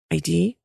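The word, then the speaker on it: Haydée: going to go and visit ID her name is spelled h a yde ID and she it's one of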